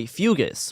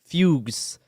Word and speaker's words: fugues: Uh, in some cases, terrifying visions were followed by fugis, which is a an old term for like fuges. It says it says fugues.